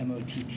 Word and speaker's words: Matter: changed the spelling of his name to Motter because that's how they pronounce it.